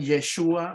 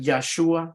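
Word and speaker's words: ישוע: Él vino a salvar, por eso el nombre de Jesús originalmente en el lenguaje hebreo, algunos lo pronuncian Yeshua, otros le pronuncian Yahshua, ¿verdad? O Yeshua.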